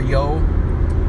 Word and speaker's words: Youghiogheny: whitewater rafting on the, I think it's pronounced the Youghiogheny River, or the lower Youghiogheny River, the lower Yo for short.